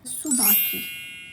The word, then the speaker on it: Tsubaki: सुबाकी जो टी है वो साइलेंट है।